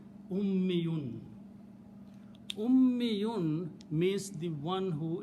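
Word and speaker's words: أُمِّيٌّ: Ummun, mother, okay, and few other words, okay, but ummi, pronounce it this way, ummi. If you pronounce this word this way, shadda and a ya, ummi, and always last letter should have it to the mas. So it will be ummiyun.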